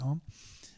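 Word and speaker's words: ॐ: The AU is pronounced O in Sanskrit. That's why we chant Om.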